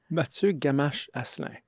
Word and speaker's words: Mattieu Gamache-Asselin: You pronounce it. Mattieu Gamache-Asselin.